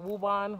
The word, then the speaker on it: Woburn: pronouncing the name wrong I think it's wool burned because it's b w o b u r n but people call it wuban wobban so sorry if I'm